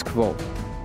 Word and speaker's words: Kvothe: what cliff cliff cliff my name is quote pronounced nearly the same as quote dammit I give up